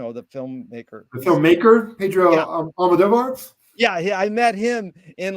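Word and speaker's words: Almodóvar: How do you pronounce his last name? Pedro, the filmmaker. The filmmaker? Pedro Almodovar?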